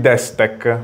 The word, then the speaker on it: Destec: Siamo con Marco di Desktech. Ho detto con l'accento esatto, corretto, giusto perché corretto.